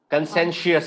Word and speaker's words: conscientious: Conscientious is how you pronounce the word.